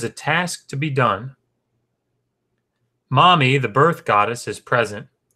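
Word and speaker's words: Mami: of the Gods wise mommy which is spelled ma mi I guess we could say mammy but we could not will you be the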